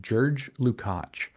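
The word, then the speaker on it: György Lukács: up my teach are G is pronounced a bit like a J in Hungarian apparently and if I'm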